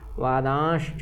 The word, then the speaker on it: वादांश्च: फिर वादांश्च ना, ये जो बिंदु है इसका भी उच्चारण करना है। वादांश्च, प्रज्ञा वादांश्च भाषसे, है ना।